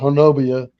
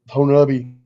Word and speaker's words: Honobia: Honubi, which a lot of people call it Honobia, but it's pronounced Honubi.